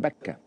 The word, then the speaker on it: Mecca: And Mecca can be pronounced with an M, Mecca, or with a B, Mecca.